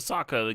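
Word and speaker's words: Sokka: Oh, this one gives the the Saka gives them prowess.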